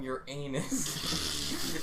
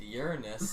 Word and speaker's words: Uranus: from and you're like they came from your anus and I remember missa was like um I think it's pronounced Uranus and can I talk